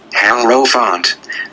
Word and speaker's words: Hierophant: The names of the officers and their implements are as follows: Hierophant, Hierophant. The I is pronounced as in the word I.